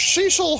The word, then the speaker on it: Cecil: And his name was Cecil Harvey. It's pronounced Cecil.